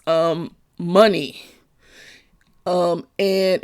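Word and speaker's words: Mani: mention it says um money um and it's m-a-n-i but it's pronounced money and money or fortune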